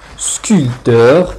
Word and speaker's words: sculpteur: position initiale par exemple sculpteur c'est la personne qui fait la sculpture à la prétention donne au mot sculpté il ya le p mais on ne le prononce pas donc en écrit qu'une